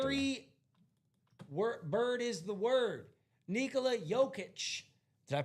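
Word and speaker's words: Nikola Jokić: Nikola Jokic. Did I pronounce that right?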